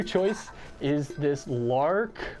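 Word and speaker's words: Larq: My number 2 choice is this Lark, I think that's how you say it, L-A-R-Q water bottle.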